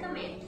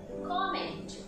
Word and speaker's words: comment: You people usually use comment, but that is the wrong word. So what is the correct pronunciation of this? It is comment.